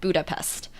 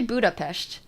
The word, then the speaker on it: Budapest: Like, nobody's pronouncing Budapest and a lot of the time in the Western world and pronounce it Budapest. But it's actually Budapest.